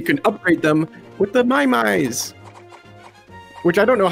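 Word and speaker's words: Maiamai: and then you can upgrade them with the mymys which i don't know how to pronounce it's m-a-i-a-m-a-i that's fine too many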